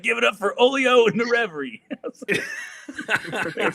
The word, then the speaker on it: Hollier: If you were going to say it phonetically in English, it's Hollier. Yep. But it's Hollier because of your French roots, right?